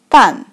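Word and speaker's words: 办: On the left, on the right side, has 2 dots, so it pronounced like 半.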